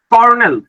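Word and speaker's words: colonel: ঠিক আছে তাহলে কয়টা ভয়েল দুইটা অক্ষর দুইটা কর্নেল কর্নেল বানান যে বাংলাদেশ করতে হবে কর্নেল বানান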